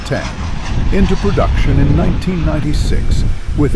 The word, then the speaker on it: X: When Textron put the Citation 750 or X pronounced 10 into production in 1996 with its enormous Rolls-Royce AE3007 engines.